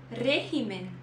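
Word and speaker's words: régimen: em português sintoma depois regimen regimen lembrando desse R vibrado que tem que praticar regimen em português regime mais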